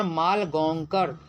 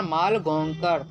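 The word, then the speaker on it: मालगोंकर: Short story है जिसको लिखने वाला है मनोहर माल गोंकर। मनोहर माल गोंकर। मनोहर माल गोंकर। तीन बार इसलिए रिपीट किए कि बच्चे का प्रोनाउंसिएशन नहीं हो पाता। वह बच्चे प्रोनाउंस नहीं कर पाते हैं।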